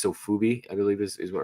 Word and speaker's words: Sofubi: But the more I look at him, I love the it's Sofubi, I believe is what, right?